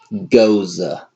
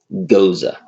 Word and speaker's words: Gose: Goza sorry tell and i'm gonna pronounce it correctly this time Gaza Gaza this has a Z sound and he has a sound yeah four point seven percent